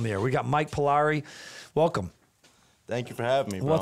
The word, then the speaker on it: Pillari: Pillari. Yeah, Pillari.